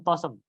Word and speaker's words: TOSM: Kalau di kalangan santri TOSM itu dibacanya Tosimin. TOSM Tosem. Kenapa demikian?